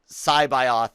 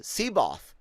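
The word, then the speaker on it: C'baoth: thrawn trilogy right and you read joris uh scibioth as he's pronounced in the audio audiobook i used to say uh siboth that's how i pronounced it you know no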